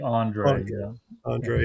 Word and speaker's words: Andrade: So, Chris, anything that you wanted to Yeah, so analytics they like Andrade. Is that how you pronounce it? Like the rest of them? Same idea? Like Andre. Andre, yeah.